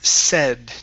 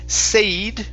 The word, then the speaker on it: said: Let's go to the word said. Now remember, instead of said with a long A, it's a short E.